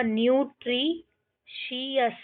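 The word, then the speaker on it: nutritious: यहाँ पे TI का प्रोनाउंसिएशन C है, तो यहाँ पे क्या हो जाएगा? न्यूट्रीशियस, न्यूट्रीशियस।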